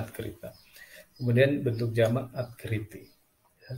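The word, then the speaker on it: открыто: Tulisannya atkrito dibacanya atkrita.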